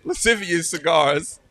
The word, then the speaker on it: Lascivious Cigars: Lascivious Cigars.